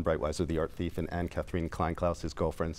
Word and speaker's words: Anne-Catherine Kleinklaus: He meets, let's talk about the girlfriend, and I probably am going to pronounce her name incorrectly. Anne-Catherine Kleinklaus.